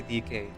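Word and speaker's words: Dikke: 100% sure that I have Dika down pat. Oh, I just say DK. Donkey. DK. Okay. Kong. I don't know. But that's how I remember. That's how I remember how to pronounce it.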